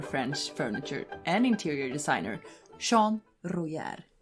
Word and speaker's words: Jean Royère: furniture and interior designer sean rujar as i'm gonna say his name is in french you get it yeah